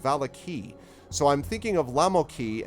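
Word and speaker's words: Vallaki: that is spelled v-a-l-l-a-k-i which for some reason is not pronounced volakai it's pronounced valaki so i'm thinking of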